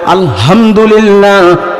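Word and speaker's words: الحمد لله: যখন বান্দা বলে আলহামদুলিল্লাহ, বড় হাব না বলিয়া ছোট হা বলে আলহামদুলিল্লাহ, 1 নম্বর মাখরাজ হলকের শুরু হইতে হামজা হা, হার উচ্চারণ করে, তখন হয় সকল সিরাখাতা লিল্লাহি, আল্লাহর জন্য।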